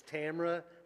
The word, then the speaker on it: Tamara: I apologize, and I know it's Tamara that rhymes with camera.